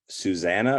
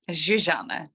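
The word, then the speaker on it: Zsuzsanna: or is it zuanna neither zanan yeah that's Hungarian so okay it's understandable that it's pretty like hard to you wouldn't know how to pronounce it unless you spoke Hungarian or could read Hungarian because Zs is actually one letter in the Hungarian alphabet so unless you speak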